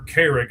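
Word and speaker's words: Carrigg: And and Craig is spelled all kinds of weird or or Carrick, I guess, is actually how you say it. C A R R I G G.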